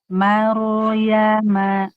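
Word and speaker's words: مَرْيَمَ: taro sukun sebelumnya fathah mar ma tipis rnya tebal jangan mimnya ke bawah tebal seperti maruk meruk itu mimnya ke bawah tebal Jadi mimnya tipis. Maru marama. Maruyama maryama.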